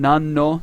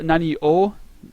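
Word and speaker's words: 何: or Nani uh what so when is it pronounced Nan and when is it pronounced um Nani when there's a no after it it's always pronounced nan nan no nan no Nani no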